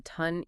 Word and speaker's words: TON: And just one last time for everyone listening, remember it's pronounced ton, like the weight, not to n ton.